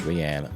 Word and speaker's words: Rian: And shout out to Rianne for putting out that tweet, letting people know it is pronounced Rianne, not Ryan.